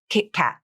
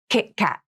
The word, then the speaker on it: KitKat: Here's the stop T in the word Kit Kat. I usually use 2 stop T's in this word. Kit Kat. Can you hear the crisp, abrupt ending to the stop T? Kit Kat.